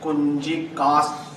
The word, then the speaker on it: Kunjika: Kunjika stotra. This one is not flowing. There's a break. Kunjika stotra. Stress that Yes. half syllable we are putting in.